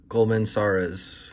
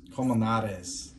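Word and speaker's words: Colmenarez: alec thomas and carlos coleman sores this is commonales that's how you say it coleman yeah all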